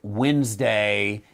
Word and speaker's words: Wednesday: of logic I think Wednesday is Pagan it was named after Wooten that's why we spell it wed instead of w-e-n like we pronounce it uh it's wuden's day